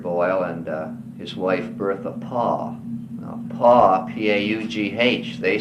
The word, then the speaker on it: Paugh: And she was the daughter of Edward Boyle and his wife Bertha Paugh.